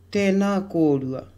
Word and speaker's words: tēnā kōrua: Tēnā kōrua, tēnā kōrua.